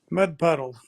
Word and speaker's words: mud puddle: So this sounds like a, pero una a muy perezosa. La apertura vocal es muy baja. O sea, básicamente abrimos la boca muy poquito y pronunciamos una a. Entonces diríamos mud puddle. ¿Sí? No vayan a decir mud puddle. No, it's not like that. Small a.